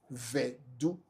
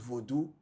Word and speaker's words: Vodu: Then when you come again closer to some dialect tribes in Anglo area, they even don't call it Voodoo, they call it Vedu, Vedu, Vedu, not Voodoo, not Voodoo, but Vedu.